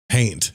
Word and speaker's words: haint: Haint, like taint. Yeah, it rhymes with taint, but they're called haints.